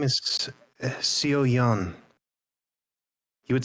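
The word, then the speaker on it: Seoyeon: My name is Sio Yan. You would spell that.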